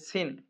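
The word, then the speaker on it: س: আসুন দেখুন প্রথমেই যে অক্ষরটি রয়েছে সেটি হচ্ছে সিন। তিন আলে নাই ফোটা। তার নাম সিন তার নাম সিন। সিনের উচ্চারণ রয়েছে। সিন উচ্চারণ কেমন হবে? সিন সামনের নিচের দাঁতের আগা থেকে শীসহ পাতলা ভাবে আদায় হবে।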